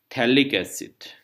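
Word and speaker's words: phthalic: COH group जो है COH benzene 1,2 dicarboxylic एसिड, या इसको बोलते हैं हम थैलिक एसिड, PH silent, this is थैलिक एसिड।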